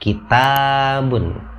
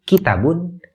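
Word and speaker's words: كتاب: Cara baca yang benar adalah kitabun. Jadi taknya dibaca panjang, sepanjang 2 harkat. Kalau misalnya Anda baca kata ini kitabun, taknya dipendekkan, itu dalam aturan baca Quran tidak benar.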